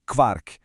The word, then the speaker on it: Quark: A pronúncia é quark, é um som bem específico do alemão mesmo.